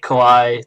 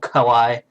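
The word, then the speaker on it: かわいい: Especially in Japan, they say kawaii to everything. I think it's called kawaii. Kawaii na. That's the right pronunciation, I think.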